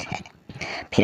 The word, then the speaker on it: half: तो इसमें के साइलेंट है। फिर हम देखें एल अल्फ़ाबेट जो है वो कौन से वर्ड में, कौन से वर्ड्स में साइलेंट रहता है।